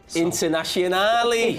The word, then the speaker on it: Internazionale: Internazionale.